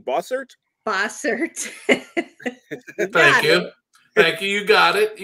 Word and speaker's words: Bossert: today David oh you know me and name boser boser thank you thank you you got it